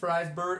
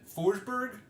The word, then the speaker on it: Forsberg: We had Maria Freisberg. Oh, God, I said it wrong. What is it? Forsberg? Forsberg. Yes.